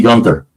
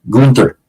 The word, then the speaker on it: Gunther: going to go see Gunther or Gunther sorry I say it right Gunther uh to to face